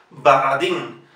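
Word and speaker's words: Borodin: Alexander Baradin. Aquí, por la misma razón que dijimos antes, si la O no compone la sílaba tónica, en la pronunciación se transforma directamente en A. Baradin.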